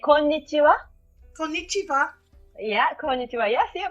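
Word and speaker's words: こんにちは: We say konnichiwa.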